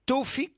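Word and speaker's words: Tawfik: Kim Lee qui est à Paris et Taoufik, comment je prononce?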